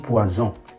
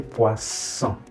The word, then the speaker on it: poisson: So make sure you are not saying poison. If you say poison with the single S, you mean poison. So you don't have poison, say poisson. So it's the S sound, not Z. Okay?